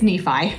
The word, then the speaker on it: Nephi: What's this? Nephi? It's Nephi.